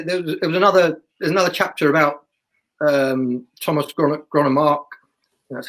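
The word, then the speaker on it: Thomas Grønnemark: In that, I just think, and it's not just, as I say, there's another chapter about Thomas Gronemark. That's how you pronounce it.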